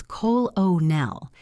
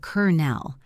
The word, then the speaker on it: colonel: If you say the word colonel as colonel instead of kernel, the issue is not that you have an accent.